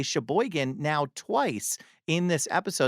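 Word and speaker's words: Sheboygan: Ellen, tell everyone about Paradigm Coffee and Music in Shabboan, which gives me the opportunity to say Shboigan now twice in this episode.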